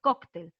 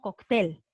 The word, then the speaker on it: cóctel: ya hemos verificado que lo correcto es cóctel la fuerza de voz está en coco entonces como decimos cócteles ya hemos identificado que la fuerza de voz está en la penúltima por lo tanto es